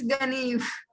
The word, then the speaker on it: Ganeev: Is it Geneve? Ganeve? How do you pronounce it? It's Ganeev. Okay, It's Ganev. Ganeev. Ganev, yeah, sorry.